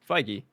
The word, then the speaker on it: Feige: not trusting me that's different how do you pronounce his name feige right yeah captain feige oh i said it